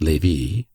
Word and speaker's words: Lévis: There were in Madame de T.'s salon some very noble ladies named Mathin, Noé, Lévis, Levis, which was pronounced Lévis, Cambise, Cambis, pronounced Cambise.